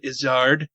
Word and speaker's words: Izzard: - Eddie Izzard Eddie Izzard sir yeah he pronounces it is hard that show was King